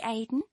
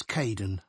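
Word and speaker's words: Kaeden: Hi Aiden. Uh, it's Kaden.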